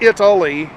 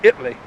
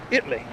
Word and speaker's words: Italy: italy is three syllables for some reason they texas towns they like to narrow the syllables down to or so so instead of italy it's italy yeah i-t-l-e-e italy anyway i thought i'd